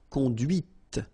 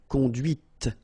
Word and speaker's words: conduite: And that's when you hear the difference between conduit, because remember, final T is not pronounced, conduit, here, and then the feminine, conduite. Okay, so here you can listen to this t, t, okay?